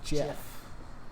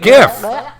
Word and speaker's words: GIF: a side tangent um it's it's gif don't be don't be weird yeah shut the up i know you're like uh the original creator wished for it to be referred to as jeff well then maybe he should have spelled it right maybe he should have